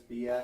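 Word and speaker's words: Biak: It's spelled B I A K, which you know in English would be BAK.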